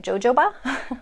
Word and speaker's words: jojoba: It's spelled Jojoba, so it looks like jojoba, but the J's are H's. So jojoba or jojoba is how people pronounce that.